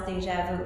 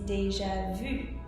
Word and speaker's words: déjà vu: English, which is déjà vu, which y'all often pronounce déjà vu. It's not déjà vu, it's déjà vu, which means already seen.